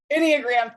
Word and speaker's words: Enneagram: mute taught me how to say it Enneagram Enneagram thank you Michelle um so I want I'm